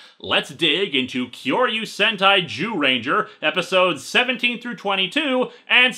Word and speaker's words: Zyuranger: And thus we have this particular string of episodes for Kyoryu Sentai Zyuranger. Hey, don't look at me like that, it's how it's pronounced.